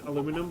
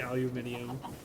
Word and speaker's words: aluminum: I mean I I pronounce it aluminum, but I had a feeling you were about to say aluminium.